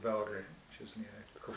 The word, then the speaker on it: Wörgl: And I actually grew up in the Tyrol, in a place called Wörgl, which is near Kufstein. How do you spell that?